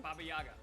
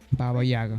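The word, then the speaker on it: Baba Yaga: this Generations unbeatable Boogeyman what how do you pronounce that again babayaga babayaga Baga Baga y That's him both men are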